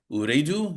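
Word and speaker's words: Ooredoo: Also, you continued on to Doha after to join Uredo, is how you pronounce it.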